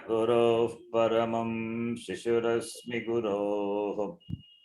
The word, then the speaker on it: गुरोः: गुरुनैव सहास्मि नमो गुरुवे न गुरोः परमं शिशुरस्मि गुरोः न गुरोः परमं शिशुरस्मि गुरोः गुरोः not गुरुः मतिरस्तु गुरौ मम पाहि गुरो मतिरस्तु गुरो मम पाहि गुरो उकारन्त शब्द गुरु शब्द विनो गुरुः Yes.